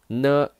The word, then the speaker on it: 女: It's challenging for pronunciation. 女, 女.